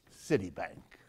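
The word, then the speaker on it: Citibank: other big bank is City Bank don't mispronounce that don't make the S into a sh sound because that gets get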